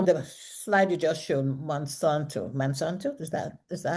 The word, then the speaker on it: Monsanto: read this so the slide you just showed Mansanto is that is that how it's pronounced yes okay they are the manufacturers of Lysol Here I go back.